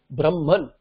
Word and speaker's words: Brahman: But how do you pronounce it? Brahman. So, hakara and makara are interchanged as though during pronunciation.